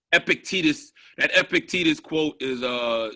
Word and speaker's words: Epictetus: uh great sayings that they would remind like epictetus he says um he says it's not things